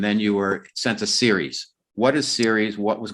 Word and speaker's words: Ceres: series the dwarf planet series pronounced series like television series but it's spelled c-e-r-e-s or anybody doesn't know